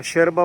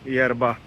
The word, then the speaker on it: yerba: तो माते एक यरबा, शेरबा बोलते हैं उसको, शेरबा, YERBA, यरबा। हम तो इंग्लिश में यरबा प्रोनाउंस करेंगे, लेकिन वो प्रोनाउंस करते हैं शेरबा।